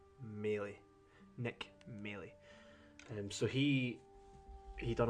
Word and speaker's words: Maley: It's actually pronounced Maley.